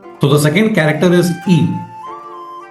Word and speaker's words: い: Next letter is I which in Japanese is pronounced as E.